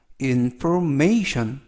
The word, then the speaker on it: information: 이번 표현은 information information information이라고 발음하시면 되겠고요 단어가 약간 길어서 강세를 알려 드리면 Inform may 할 때 메의 강세가 있습니다 information information 이렇게 발음하시면 되겠고요 이때